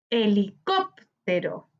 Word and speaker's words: Helicóptero: Helicóptero, helicóptero. En este ejemplo vemos que la palabra helicóptero se tilda en cop, correspondiente a la antepenúltima sílaba.